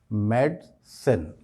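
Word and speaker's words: medicine: तो इसमें एक्चुअली जो प्रोनाउंसिएशन में गलती है वो ये है कि हम आय पर स्ट्रेस करते हैं और हमें आय पर स्ट्रेस नहीं करना चाहिए।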